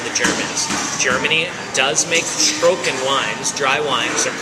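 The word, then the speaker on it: trocken: be drier than the Germans Germany does make troken wines dry wines are called troken t r o c k e n troken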